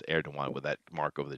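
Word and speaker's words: Erdoğan: of Justice and Development Party, and recap Tayyip Erdogan, that's how you pronounce it, Erdogan with that mark over the G.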